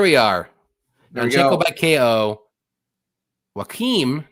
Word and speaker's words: Joaquim: Joaquim, not John. It's Joaquim Silva. It's Joaquim. Why I say Joaquim? Whatever. I don't know. Joaquim. It's Portuguese, so you got to pronounce the J.